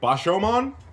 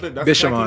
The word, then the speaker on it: Bishamon: Bashoman? That's Bishamon.